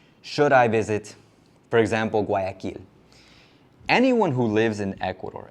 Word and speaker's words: Guayaquil: Sorry for those of you who hear Guayaquil and assume that I mean kill as in kill, but it's just the way I pronounce it in English, but it is Guayaquil in Spanish when you pronounce it.